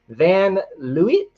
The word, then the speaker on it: Van Leeuwen: Van Leeuwen is how you say it, Mrs. Van Leeuwen. That's what we're going with.